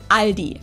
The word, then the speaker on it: Aldi: and say Aldi in Germany we just say Ali it has its origins